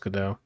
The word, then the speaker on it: Gadot: i think she said on an interview that's pronounced godot yeah so like she plays the the she